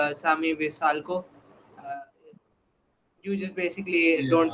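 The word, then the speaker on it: Šime Vrsaljko: The only extra point that I have got to add, also the Atletico Madrid guy is pronounced Sami Visalco.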